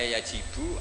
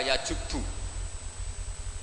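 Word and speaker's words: يجب: Itu bacanya bukan yajibu tapi apa? Yajubu ayaktau. Nah kalau pas ini kamu baca yajibu kan, al-Islamu te Islam yajibu, pusing kamu.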